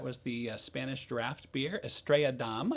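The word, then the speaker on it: Estrella Damm: the spanish draft beer estrella dom i guess is the correct pronunciation we had to look it up want to make sure we're correct i've had this i've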